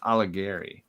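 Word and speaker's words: Alighieri: nobody can spell dante his last name is i think it's pronounced aligari but uh oh that's not how you spell it's not it doesn't sound the way you would spell it um this might be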